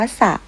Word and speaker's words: สระ: นะ คะ แต่ ว่า จะ ไม่ ออก เสียง เรือ ค่ะ จะ ออก เสียง เพียง พยัญชนะ ตัว แรก เป็น ตัว เดียว ค่ะ ตัว อย่าง เช่น ศ. นะ คะ คำ นะ คะ เช่น คำ ว่า สระ คำ ว่า สร้าง ต่อ